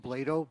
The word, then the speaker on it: Blado: It's pronounced Blado, B-L-A-D-O.